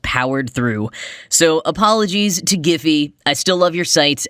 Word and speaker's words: Giphy: I was discussing is properly pronounced giphy not Jiffy like the campfire popcorn that I love this is something that